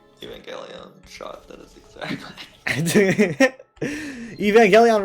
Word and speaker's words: Evangelion: That is the official true pronunciation is Evangelion.